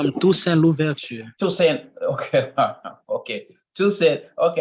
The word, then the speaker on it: Toussaint Louverture: person who did that was a guy called Toussaint Willoughby. I think, I pronounced his name correctly. Toussaint Louverture.